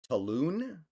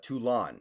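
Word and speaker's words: Toulon: up Napoleon winning the siege of Talon I think is how you pronounce it um uh tulon excuse me tulon the siege of tulon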